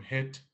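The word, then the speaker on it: hít: but in clink it it's pronounced the same hit which is our which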